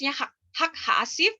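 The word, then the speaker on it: חג האסיף: Hasyim atau festival pengumpulan dan ini bacanya hak-hak hasif dan Hak asuh chord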